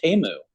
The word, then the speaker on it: Temu: Well, the big thing was, did you guys see it's not pronounced Timu, it's pronounced Temu.